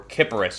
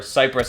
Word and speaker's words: Kiparis: in real life the ots-2 cypress or kipparis you may also hear it pronounced that way as well however cyprus i believe is the correct pronunciation uh from russian so this is a